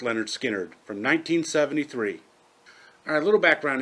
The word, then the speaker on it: Lynyrd Skynyrd: series about leonard skynyrd with their first album pronounced leonard skinner from 1973.